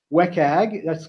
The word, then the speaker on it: WCAG: You may hear people pronounce it as WCAG.